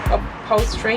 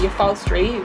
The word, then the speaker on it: upholstery: think about the upholstery how do you say that word upholstery i used to say your false dream because i'm not very